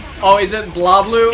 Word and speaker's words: BlazBlue: This is one of those weird things where, like, it's actually, like, I don't think you're supposed to pronounce the Z. Oh, is it BlazBlue?